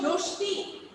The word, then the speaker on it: রশ্মি: মানে এটা শব্দের শেষে যদি কি হয়, ম থাকে, তাহলে কি হয়, তালিকা শয়ের উচ্চারণ কি হয়, দীপ্ত হয়। তালিকা শয়ের উচ্চারণ দীপ্ত কি হয়।